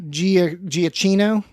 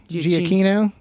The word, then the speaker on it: Giacchino: How do you pronounce his name? Giacchino. Giacchino.